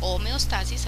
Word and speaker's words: homeostasis: el proceso de homeóstasis la homeóstasis homeostasis a veces se pronuncia de esa manera eh es el proceso